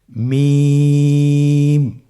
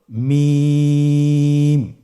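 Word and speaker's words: ميم: মিম হরফটি উচ্চারণের ক্ষেত্রে অবশ্যই বারিক হবে, পাতলা হবে এবং 3 আলিফ টেনে উচ্চারণ করতে হবে। আমার সাথে আরেকবার চেষ্টা করুন। মিম। আবার বলুন মিম।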